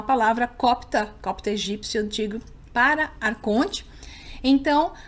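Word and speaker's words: archon: Então, não há palavra copta egípcio antigo, para arconte. Então, os textos gnósticos usam o termo grego da transliteração copta, que é pronunciado arcon.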